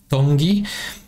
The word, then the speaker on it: Tongi: Tongi. You pronounce the T's.